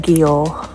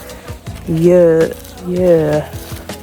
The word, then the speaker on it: Győr: We're not in Győr, we're in Győr. No G.